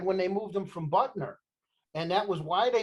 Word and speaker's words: Butner: Yeah, So- but that all happened, Red, when they moved him from Butner. And that was why they You supposedly call it moved him. Butler?